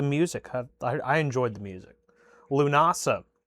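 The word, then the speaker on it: Lúnasa: Lunasa. Lu nasa. I think that's how you pronounce it. That's how they pronounced it when we when I went and saw them in concert.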